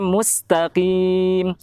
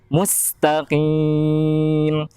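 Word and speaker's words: مُسْتَقِيم: ihdinash shiraathal mustaqiim mustaqim kemudian ketika membaca mustaqim karena sini itu pada dasarnya tarqiq atau tipis maka jangan tertarik sama harokat dhommah pada huruf mu huruf mim Ya maksudnya must api musnah karena Mus denganmu Situ sangat berbeda ya mustaking ihdinas sirotol daging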